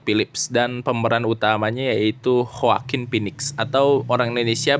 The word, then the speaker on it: Joaquin: Di sini ada sutradaranya Todd Phillips dan pemeran utamanya yaitu Joaquin Phoenix, atau orang Indonesia bacanya Joaquin Phoenix.